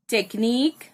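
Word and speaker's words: technique: यहाँ पे k sound को QUE ये अल्टरनेट स्पेलिंग से रिप्रेजेंट किया गया है, ये साउंड कर रहा है इधर k को, because k और C को, because they are French words, they are not English words.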